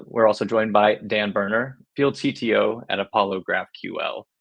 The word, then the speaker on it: Boerner: And we're also joined by Dan Boerner, Field CTO at Apollo GraphQL. Dan, I hope I pronounced your last name correctly.